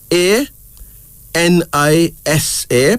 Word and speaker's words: Anisa: then there's Anissa Anissa a -n-i-s-a pronounced as Anisa this is a kiswahili word